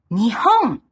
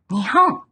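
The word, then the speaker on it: 日本: In this specific combination, the kanji for the sun has the pronunciation ni. Nihon. Nihon.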